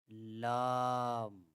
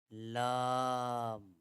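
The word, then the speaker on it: لام: When the front part of the tongue touches the gums behind the upper front teeth, the letter Lam is pronounced. And if you look at the inside of the mouth, you can see that pronouncing the letter Lam, the sides of the tongue make contact with the upper gums, extending from the first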